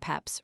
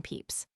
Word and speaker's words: Pepys: and peeps were intended to represent the sound peps rather than peeps.